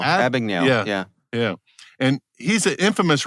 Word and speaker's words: Abagnale: Abagnale. Abagnale.